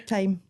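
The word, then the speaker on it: Thyme: Time, like the Time. herb. The reason I asked you that is because I always struggle with how to pronounce that. Like theme. You get it all the time, theme.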